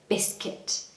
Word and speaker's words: biscuit: So the word kit, okay, like sports kit or any kind of kit, say that word at the end. So biscuit. I hear people saying biscuit, so that's where it's commonly mispronounced.